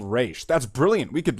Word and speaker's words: Ra's: Let's call it Ra's, but it looks like Raz. How about people think it's Raz when they read it, but it's called Ra's?